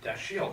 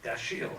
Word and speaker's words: Dashiell: everybody you know it's it's French the French Huguenots and it's like death shield Samuel death shield Haman